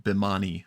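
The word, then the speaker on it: Bhimani: uh and jolly uh Beaumont is how you say her last name uh Anjali bimani I believe umani that's right yes um apologies there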